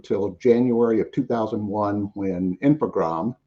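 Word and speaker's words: Infogrames: January of 2001 when infogram and you do you just dro the es on the ID on that French pronunciation um took over was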